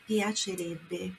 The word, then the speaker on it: piacerebbe: Olha a pronúncia, piacerebbe.